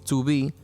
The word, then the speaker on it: 2B: protagonista que se llama 2b en inglés to be que se pronuncia igual a su vi ser o estar lo cual ya nos